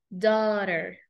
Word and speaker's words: daughter: casi siempre casi siempre la g y la H si Están juntas se va a eliminar ese sonido es muchísimo más fácil